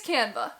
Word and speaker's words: Canva: I think that's how you pronounce it, Canva. It's Canva.